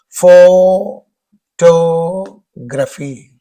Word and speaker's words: photograph: Photography, photography, photography, photography. Whenever it is photograph, then the stress is on the first syllable.